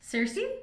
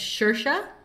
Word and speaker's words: Saoirse: Cersei? No, it's Saoirse. Oh. Saoirse Ronan, I believe is how you pronounce her name.